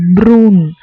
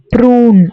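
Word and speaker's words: brun: ஸோ ப்ரௌன் வந்து ப்ரூன் ப்ரூன் அப்படி சொல்லணும்.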